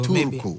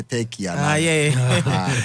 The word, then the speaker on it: Turku: So Turku. Okay, because we say what trip we say Turkey Finland kasano spelling exactly how you should pronounce it.